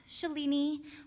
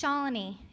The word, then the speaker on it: Shalini: many of our professors her name is not Shalini or Shalini its Shalini it rhymes the colony our law school days are